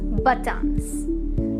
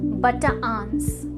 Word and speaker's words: Bataan: इसे north Americans actually pronounce करते हैं एज बटान्स, लेकिन इसकी सही प्रोनाउंसिएशन है बटाआंस, बटाआंस।